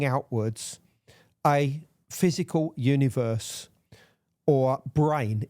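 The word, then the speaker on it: brane: a physical universe or brain is the term that's using and and that's spelled b r a n e and this expands out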